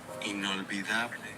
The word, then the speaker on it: inolvidable: I'm trying to pronounce something in inolvidable.